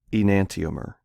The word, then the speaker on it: enantiomer: And this particular kind of isomer is called an enantiomer. So that's how you pronounce that word. It's five syllables: e-nan-ti-o-mer.